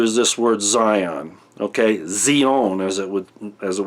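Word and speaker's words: ציון: to get into is this word Zion okay zeona as it would as it would be pronounced in in Hebrew because I made the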